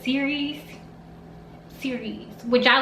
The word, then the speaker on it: Sirius: star well they said the pronunciation is actually not siri us but series series which i like